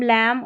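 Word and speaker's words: lamb: MB जब रहता है ना, स्पेलिंग के आखिर में देखिए MB आ रहा है ना, तो B साइलेंट है। क्लाइम, थम, कॉम, लैम और बॉम, तो थम, ठीक है, B का उच्चारण नहीं हो रहा है।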